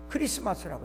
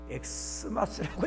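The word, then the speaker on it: Xmas: 근데 그건 영어의 X자가 아닙니다. 헬라 말의 그리스도라는 말의 첫 글자예요. 그러니까 이렇게 써놔도 읽을 때는 뭐라고 읽어야 돼요? 크리스마스라고 읽어야 돼요. 근데 또 어떤 분은 엑스마스라고 읽습니다. 이번 엑스마스에 그건 아주 무식이 풍년든 사람입니다.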